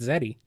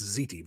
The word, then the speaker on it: ziti: Yeah, I'm gonna have some baked Zeddy. I think it's pronounced ziti, but anyway.